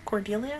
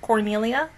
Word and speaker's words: Cordelia: that's girl they have cordelia that's what you say her name cordelia not cornelia seems badass see but